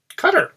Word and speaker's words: Qatar: The share we got went to a bank in Qatar, cutter, however you want to pronounce it.